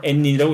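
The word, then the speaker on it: 円仁: 요걸 일본 말로 엔인이라고 읽는 건데 굉장히 잘생겼죠.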